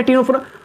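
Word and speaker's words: Ctenophora: Actually यहां पर देखो भैया सी साइलेंट रहता है। ये वही भाई ज्ञान देना लग रहा। ठीक है? सी साइलेंट टिनोफेरा पनिश से हो जाएगा।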